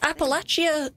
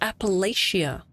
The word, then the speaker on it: Appalachia: you a smart cookie oh it is pronounced Appalachia I know just how to do it in the region of for real give me one second Appalachia huh didn't know that I always thought it was Appalachia okay I think I'll